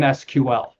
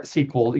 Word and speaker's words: SQL: So I would say pay attention to the applications you're using, because like I at one point you used an SQL or SQL, they have both pronunciations.